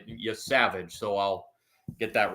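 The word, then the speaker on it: Yesavage: It's I've been mispronouncing his name. The pitcher is it's Yavage. I've been pronouncing it incorrectly. Y Savage.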